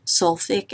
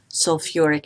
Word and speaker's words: sulfuric: the oxoanion sulfate so we would think that this should be called sulfi acid it's actually called sulfuric acid we have an extra syllable in there and also notice that